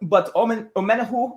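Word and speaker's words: Omenihu: But Omenahu, as he pronounces it, I think he's going to be a guy who just occupies his space a little bit more.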